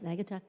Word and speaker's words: Naugatuck: He definitely He could buy Kermit, Naugatuck, is that how you say it? Yes, Naugatuck.